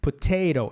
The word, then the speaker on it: potato: Poté é a sílaba forte. Potato, o segundo T é a sílaba fraca. Potato, a gente não fala potato. Isso não existe.